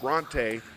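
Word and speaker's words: Brontë: learn something expand my horizons and Bronte is pronounced Bronte and now we know if anybody's still hanging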